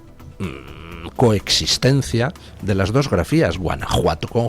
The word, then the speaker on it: Guanajuato: tienen ustedes pueblos como Guanajuato, que se pronuncia como México con J, y que se escribe con J, cuando durante todo el siglo XIX permaneció la coexistencia de las dos grafías, Guanajuato con J y Guanajuato con X pronunciado J.